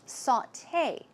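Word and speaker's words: sauté: gourmet and we have saute remember sauteed blah blah blah it's a way of or preparing food and it's pronounced saute saute it's not saute its saute and recipe you may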